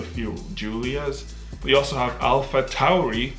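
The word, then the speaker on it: AlphaTauri: julia's we also have alpha tauri which is apparently the right way to say it because i did my research and all the commentators and formulas who say alfa tori are wrong so you have alpha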